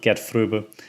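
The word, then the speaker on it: Gert Fröbe: james bond by the way and again um get through that's how you pronounce it get through as goldfinger um then the next one on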